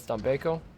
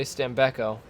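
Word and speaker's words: Stambecco: we're from America but it's stanbeko um because that's how it's spelled and pronounced in Italy and I'm not gonna say stambeko because that makes me sound like I'm very American which I am but we're gonna keep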